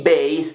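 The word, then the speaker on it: bass: a conocer un grupo de dos palabras de similar pronunciación veis veis es base o fundamento y veis es el instrumento el bajo eléctrico pasa lo mismo con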